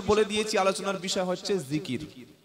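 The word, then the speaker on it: ذكر: উপরে বিষয়টা হচ্ছে আল্লাহর জিকির কি নাম বললাম জিকির জাল কাফ র তিনটি অক্ষরে একটা শব্দ জিকির বাংলায় থেকে হলে হবে অন্তর্য হস্ র জিকর এটা বাংলায় আরবির উচ্চারণ আর অর্থ হলো আল্লাহর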